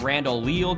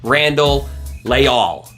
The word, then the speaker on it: Randall Leal: at colorado they've got randall leal come on lay all okay i really butchered that pronunciation it's randall layal not randall leal there were four cities